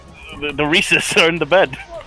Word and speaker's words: Reese's: i brought up the reese's rhymes with feces and she never ate